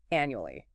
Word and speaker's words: annually: First, annually. A-N-U-A-L-Y. Annually. 4 syllables. Stress on the first means once a year.